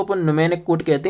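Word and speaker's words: mnemonic: न्यूमेक code कहते हैं एम ये साइलेंट होता है इसे न्यूमेक कोड पढ़ा जाता है कंपाइलर का क्या काम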